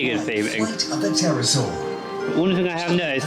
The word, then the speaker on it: Pterosaur: I think that's Flight of the Pterosaur. I think that's how you pronounce it anyway. I think it's a silent P.